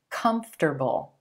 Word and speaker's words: comfortable: I know it looks like it should be comfortable, comfortable, but in American English, we just make it 3 syllables, comfortable, comfortable, with emphasis on the as in plum sound in the first syllable, comfortable, comfortable.